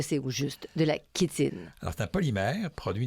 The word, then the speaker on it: chitine: jardin de la la kitine voilà la kitine tu me perds là alors kitinors kitine qui s'écrit chitin oui c h t i n e et qui se prononce kitin qui K i t